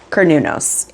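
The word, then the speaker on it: Cernunnos: Kernunos I knew it was different than how I wanted to pronounce it. Kernunos is how we do it.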